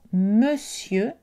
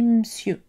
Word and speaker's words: monsieur: exemple évidemment patiemment au n est prononcée choix dans le mot monsieur on peut comme les autres choix le laisser tomber et prononcé monsieur la lettre e et